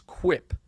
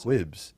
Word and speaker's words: quip: Second of all, the word is quip. Listen, this is one of those quibs. No, that's what. Yeah. Is the B pronounced with a P?